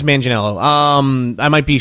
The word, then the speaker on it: Manganiello: him in this movie his name is Joe Manganiello. Magello or something. Yeah, it was. I think it's Manganiello.